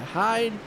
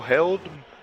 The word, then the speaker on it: Held: Got Michael, what is that, Hyde? Is that how you say that? I believe that's how you say it. Is that right? Michael Held.